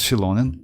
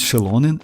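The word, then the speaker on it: Xianyun: Z is the same but pronunciation is shonin as they told on the stream it's shonin and mava it's like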